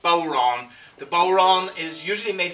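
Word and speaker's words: bodhrán: frame john the bowerana spelled b-o-d-h-r-a-n but pronounced boron the boron is usually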